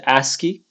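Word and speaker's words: ASCII: uh in this system called aski uh that's how you pronounce that uh it stands for a much larger acronym but most people refer it to just as aski so these letters um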